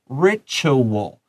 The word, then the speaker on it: ritual: Let's look at the word ritual. Please underline the T-U-A here. Ritual. It has a little bit of ch sound in there.